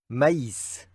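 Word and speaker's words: maïs: This one is used to indicate that the vowel has to be pronounced separately from the previous vowel. for example, in the word mice, which means corn.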